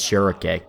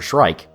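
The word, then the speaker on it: Schierke: pronounce her name as shirake that feels weird to say and i've always just kind of called her shrike like the bird because she has a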